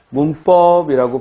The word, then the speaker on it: 문법: 다음 2번 문법이라고 발음했을 때 이때 문과 법이 만나서 문법하고 된소리가 나고 있고, 문제는 뒤에 법을 만나 니은이 미음으로 바뀔 이유는 없겠죠? 따라서 된소리가 되는 것이고 문하고 비음하는 일어나지 않습니다.